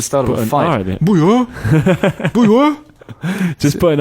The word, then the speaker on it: bouilloire: Bouilloire. Bouilloire. Bouilloire. Sounds like the start of a fight. Bouilloire. Bouilloire.